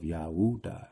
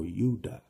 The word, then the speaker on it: Judah: destruction for their sins like the descendants of Yahuda or Yuda, which is the true pronunciation of Judah.